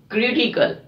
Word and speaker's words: critical: Another word is critical. We are stressing on CRI, CRI, because it's a third from the last. Third from the last syllable, critical. We don't say critical, it's a critical.